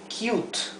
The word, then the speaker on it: cute: ASUME un sonido diferente la u se pronuncia u u por ejemplo la palabra cute cute fíjense bien esto esto aquí esta palabra es una sola sílaba esta palabra es monosilábica